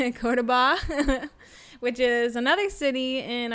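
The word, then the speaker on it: Córdoba: We're planning to actually tomorrow fly to, I always say this name wrong, can you help me? Cordoba. Cordoba, which is another city in Argentina.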